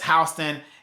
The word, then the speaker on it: Houston: Houston Georgia it is spelled Houston but we pronounce it as Houston in the state of Georgia so it's one